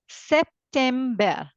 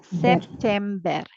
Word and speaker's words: September: it as AUST August September SE be note that b e r is not bur it is be I read it as be September yes the spelling is